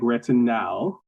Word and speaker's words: retinal: then also red noise I like retinal which is spelled r e t i n a l instead of with an O it's an alide um